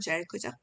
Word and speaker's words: Jericho: 자, 여리고가 이제 영어 발음으로는 Jericho죠.